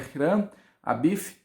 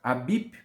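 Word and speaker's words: Hiram Abiff: Pronúncia correta do seu nome é Hiran Abif, não é Abip, por exemplo, porque no hebraico não existe palavra que termina com pei, com som de P.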